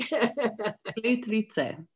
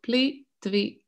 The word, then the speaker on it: Plitvice: So, Maya, can you pronounce the name of the lakes again? Someone was asking. I know it's very hard. Plitvice. So, Plitvice. Plitvice. Correct. Plitvice Lakes.